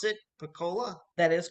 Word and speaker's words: Pocola: Is that how you pronounce it? Pocola? That is correct. All right, Pocola.